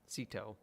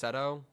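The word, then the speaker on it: Ceto: goddess of sea monsters Sito it also might be pronounced stto but if it's called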